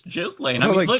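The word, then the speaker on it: Ghislaine: No, it is Jiz Lane, isn't it? No, it's just straight up Jizlane. Jizlin. Something like that.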